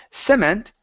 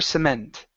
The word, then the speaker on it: cement: The stress is at the very end. Instead of cement, it's the rubber cement.